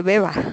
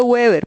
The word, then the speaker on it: Weber: se llamaba Max beber es beber no beber en alemán sociólogo alemán que definió realmente se dice beba Pero bueno no se dice Weber por favor V a decir we